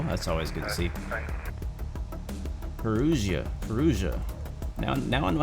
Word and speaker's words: Perugia: Perugia. Now I know how to pronounce that.